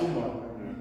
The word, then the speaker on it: Umar: And his name is not Omar. It's Umar.